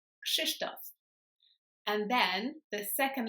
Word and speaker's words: Krzysztof: So the first one is the RZ, which is normally pronounced ż, but because it goes after the K, it's pronounced sh. So it's kind of like the sound in the name Agnieszka. It's confusing, I know, but just remember when there's KRZ, it's pronounced ksh. So you've got the k sound and then sh afterwards.